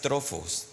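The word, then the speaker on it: τροφός: La palabra griega es trofos, así se pronuncia, trofos con pH, tropos.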